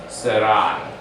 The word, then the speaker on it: Sarai: It's not A, but it's I because it's the long A. So you have to pronounce it, but it's I. So it becomes a diphthong together, but it's Sarai, as in Adonai.